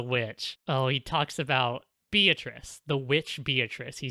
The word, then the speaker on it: Beatrice: We're just gonna call her fucking Beatrice, because We're going to be pronouncing it Beatrice.